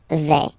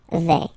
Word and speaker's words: vais: Okay, first person here, je vais. Remember, final S not pronounced. Je vais. Okay, tu vas.